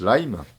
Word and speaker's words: Lyme: En fait, on prononce Lyme. Hein, c'est un mot anglais, ça vient d'un comté dans lequel on a découvert cette pathologie, un comté en Angleterre. Et Lyme, alors cette maladie